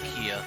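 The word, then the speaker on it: KeA: So her name is supposed to be pronounced Kia.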